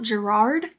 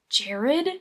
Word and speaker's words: Gerard: books in this series it's not Gerard it's Jared it's spelled Gerard but I think with their accents it just comes out Jared because it's set in Ireland this book is definitely